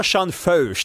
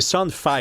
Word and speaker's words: Sean Feucht: Ça c'est c'est un nom de famille un peu allemand donc la prononciation est bien est bien demon ça commence. C'est pas Shan Feuch, c'est Shan F.